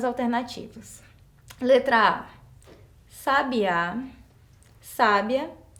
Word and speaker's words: sábia: sabia onde estava o sábia então quando eu pronuncio essas palavras com acento correto Eu percebo que muda o sentido e qual que tá